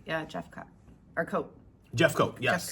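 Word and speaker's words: Jeffcoat: Yeah, Jeffcott.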